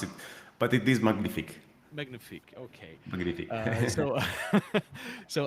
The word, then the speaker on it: Magnific: Nobody will know how to how to pronounce it, but it is magnific.